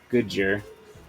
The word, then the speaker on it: Dgoodger: Goodger. Like Badger. But good. Alright. Goodger. The D is silent, hillbilly.